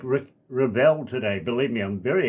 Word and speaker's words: Revel: Yeah, and I pronounce it Revel. Revel, okay.